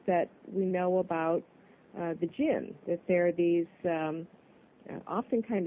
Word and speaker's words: Djinn: So it's jinn. The D is silent.